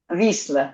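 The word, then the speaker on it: Wisła: You don't say Vistula. You say Vitzel? How do you say the river in Russian? In Russian, Wisla. Wisla, yeah, I think that's how the Poles say it.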